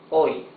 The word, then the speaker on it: hoy: You see, in both cases, the letter H is completely mute. Hoy, today. Alcohol. Alcohol. Alcohol, yes? It's totally mute.